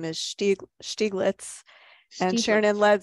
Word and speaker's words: Stieglitz: in the chat um thank you Ava the pronunciation of his name is Steve stieglitz and Sharon and Lead said um she lets